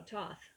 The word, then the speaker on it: Thoth: teacher awakening divine magic thoth pronounced oh toth okay let's find thoth i would say thoth also known as tehuti